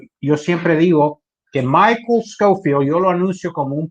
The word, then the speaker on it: Schofield: Schofield. Excellent. Perfect. Because field, I know that word, right. Schofield.